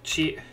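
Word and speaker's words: チ: Chi. Chi. This one is the exception in the set. Instead of being a T sound, it's used to represent Ch.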